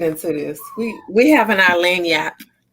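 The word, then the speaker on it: lagniappe: We having our lanyap. Did I say it right? Lanyap. Yep, lanyap, right.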